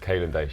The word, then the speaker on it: Kalen Daish: And Kalen Daish. Kalen Daish. Yeah. So I was going to pronounce it wrong if I would have done it.